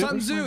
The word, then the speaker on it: Sun Tzu: Sun Tzu, that's what it is, thank you.